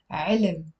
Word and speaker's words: علم: But because it's a one syllable word, we tend to pronounce it as علم. Even native speakers do that. علم, علم.